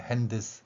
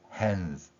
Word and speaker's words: hands: 일본어 방식으로 디귿을 드로 보는 것, 자음과 모음의 결합으로 보는 원리 때문에 핸드스 이렇게 발음하게 되는 것입니다. 그렇지만 실제로는 자음이 겹쳐 있는 이 소리가 hands. 자, 디귿은 거의 소리가 나지 않고요. 시옷만 약하게 소리가 나면서 표현되지요. 또한 그 과정에서 디귿을 거의 소리 내지 않기 때문에 hand 이 발음이 상당히 길어집니다. 에 발음이 길어지면서 hands 이렇게 표현되는 것이죠.